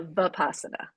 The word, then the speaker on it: Vipassana: yeah, Is the it's V silent? Is that no, it's a Vipassana.